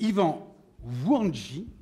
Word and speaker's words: Yvan Wouandji: Et puis nous avons le dernier invité qui est Yvan Wouandji. Je l'ai bien prononcé?